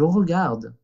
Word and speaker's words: regarde: Y que la E al final de las palabras no se pronuncia. Je regarde. ¿Ok? Igualmente que dans la boîte, la E no se pronunció, pues aquí tampoco. Je regarde.